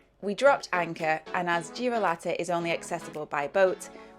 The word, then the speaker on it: Girolata: Girolata is how you pronounce it.